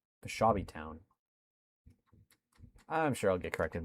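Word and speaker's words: Peshawbestown: City, Suttons Bay, and Pshaw Beast Town. Someone said it in chat. It's different than what I was pronouncing it. Peshawby Town.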